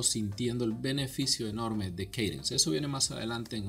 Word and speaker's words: Kadence: Estoy probando un tema nuevo que se llama Cadence, se pronuncia.